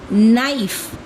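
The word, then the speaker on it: knife: नाइफ अगर मैं नाइफ कहूं तो नाइफ की स्पेलिंग तो के से शुरू होती है। लेकिन हम तो प्रोनाउंस करते हैं एन से। यहां भी के साइलेंट है।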